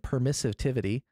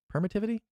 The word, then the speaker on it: permittivity: uh the permeability and permissivity permeability and i believe it's permittivity permittivity permeability permittivity yeah there we go i love adding extra syllables to things it's the worst deconstructive um